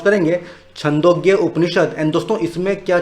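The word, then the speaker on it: छान्दोग्य: ठीक है फ्रेंड्स, इसको आप कैसे प्रोनाउंस करेंगे? छंदोग्य उपनिषद।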